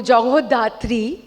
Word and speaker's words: Jagadhatri: Jagadhatri, Bengali में अगर बोलूँ Jagodhatri, being a Bengali, I would want to pronounce it that way, is जैसे show का नाम भी है, माँ दुर्गा का ही एक रूप है।